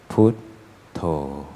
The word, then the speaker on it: Buddho: Putto, Putto, Putto, Putto, Putto, Putto. Sorry, Putto is the rather more Thai way of pronouncing the word Buddho.